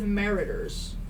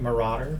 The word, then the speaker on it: marauder: Marauder. Probably. Marauder. Yeah, probably Marauder. Yeah, it's marauder. Marauder. Marauder. Sounds like murderer. Murderer. Marauder. That does sound very similar.